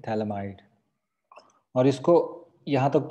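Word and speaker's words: phthalimide: यहाँ पर P silent है सब में, क्या मिला हमको? थैलामाइड।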